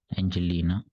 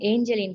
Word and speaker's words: Angeline: after maheshika we have Angeline Angelina am I correct pronouncing your name Angeline right I am Angeline sir Angeline okay sorry